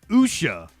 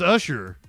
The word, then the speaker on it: Usha: been saying it wrong Usha I've been saying it like ludicrous says Usher Usher for sure kie Vance the vice president and you know there was so much excitement around usha's visit to Greenland this